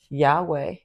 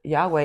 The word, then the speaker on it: Yahweh: And there's no vowels in the actual word Yahweh. It's YHWH. Yeah, for an English person, I think any language without vowels, it's very hard to pronounce. And it's quite amazing when you when you pronounce it the way that it's to be pronounced. It's yeah. No, it's like yeah. It's breathing in and out.